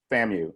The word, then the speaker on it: FAMU: engineering technology and Adam it's pronounced FAMU so we'll get well